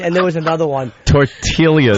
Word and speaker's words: tortillas: there was another one tortillas tortillas you pronounce the silent L yeah oh we were